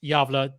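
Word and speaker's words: Gävle: going back to his hometown of yava it's pronounced yava spelled gav v Le a home of the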